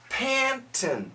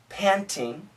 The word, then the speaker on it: panting: were sweating and panting Panton he said panon so the perfect word panting a little bit fure American style panting panting panting glad